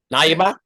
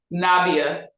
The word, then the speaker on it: Nabiyah: Um, how do you say Now, Nayaba? Nabia, Nabia. Yeah. yeah. It's not try to butcher it. I'll let you say it. So yeah, so most of your scenes are opposite Nabia.